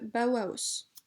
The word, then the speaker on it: Bauhaus: Bauhaus qui d'ailleurs peut se prononcer aussi bien Bauhaus que Bauhaus, puisque le nom est allemand.